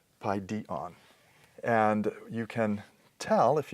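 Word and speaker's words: παιδίον: We could compare that with, let's say, another neuter noun, word for child, paidion, and its persistent accent wants to fall on this penultimate syllable, paidion.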